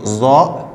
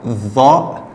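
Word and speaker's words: ظاء: Ok, en arabe standard, c'est va. Va, c'est la prononciation de cette lettre, je sais, est très très difficile. Va. Va. Va, ça s'écrit comme le ta, mais avec un point. Mais si vous n'arrivez pas à prononcer le va, vous pouvez prononcer za ou z, comme le z.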